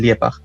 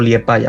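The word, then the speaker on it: Liepāja: Los más potentes a día de hoy son el Valmiera, el Riga FC, el RFS y el Liepag, o Liepaja más bien pronunciado.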